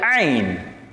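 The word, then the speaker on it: عين: ஐன் இது ஐன் ஐன் கொய்யுன் இல்லை ஐன் ஐன் ஐனுன் அதனுடைய நித்தாட்டும் போது ஐன் சொல்ல வேண்டும். ஐன் ஐன் ஐன் ஐன் ஐன் அண்டு வரணும்.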